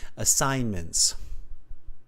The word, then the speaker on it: assignments: Assignments, Yeah, no, you don't pronounce that G. Assignments. assignments. Good. Yeah, that G is kind of almost a silent G in that word.